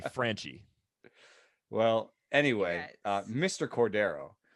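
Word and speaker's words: Franchy: raunchy he's like fraunchy i thought that was frenchy you think it's fraunchy i have no idea why i think it's crunchy yeah well if it's like i don't know why like a spanish pronunciation would be fraunchy right okay yeah that's why i think but if we're gonna anglify it it'd be franchie well anyway uh mr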